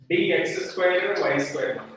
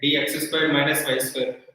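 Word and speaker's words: dx²−y²: Next, dx square y square, not minus. Minus alla, very hyphen. Okay, dx square minus y square. You should not pronounce dx square y square.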